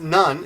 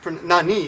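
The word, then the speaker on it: 何: Right now, in this case though, it's not pronounced none. It's nani. It's pronounced none.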